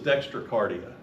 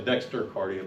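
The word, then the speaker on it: dextrocardia: So, this is dextracardia. A lot of people say dexteria, but it's spelled dextra t r a uh dextra cardia.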